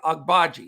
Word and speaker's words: Agbaji: baji i'll get it much more clear oche agbaji it's just a little tricky on the when you're pronouncing it but i love this kid he's